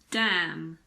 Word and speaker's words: damn: this is very simple we don't pronounce n if it comes after M at the end of a word for example Autumn it's not autum it's just Autumn column condemn damn him what about the